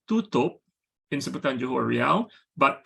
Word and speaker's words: tutup: Similarly, the word spelled T-U-T-U-P is pronounced tutup in Sebutan Johor Riau, but tutup in Sebutan Baku.